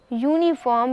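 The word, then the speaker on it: uniform: यूनिफॉर्म का उच्चारण यूनिफॉर्म यानी YOONIFORM की तरह किया जाता है।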